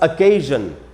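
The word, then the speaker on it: occasion: और फिर है हमारे पास अकेजन। अवसर जो होता है अकेज़न। तो ये है कि एस से ज कब-कब बनेगा।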